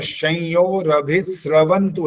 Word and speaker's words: संयोरभिस्रवन्तु: और संयोरभिस्रवन्तु है, स्र, यहाँ स्र है, जी यहाँ श नहीं है, यहाँ स में र बना हुआ है।